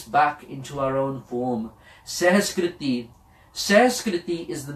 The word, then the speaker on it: Sehaskriti: Sehaskriti. Sehaskriti is the name of this Bani. Some people incorrectly pronounce it कि इस संस्कृत दे श्लोक या पर इस सहस्कृति दे श्लोक या.